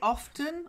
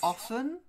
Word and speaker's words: often: all too often now you can say often or often but not oven oven is like a